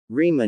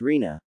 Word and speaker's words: Rina: It's Rina, Sasuke. You're still mispronouncing it. Rima is a prettier name. Fits better. Mashiro.